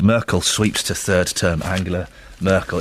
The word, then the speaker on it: Angela: sweeps to third term Angela Merkel is it Angela or Ang it's angular isn't it it is it's a hard G she has a hard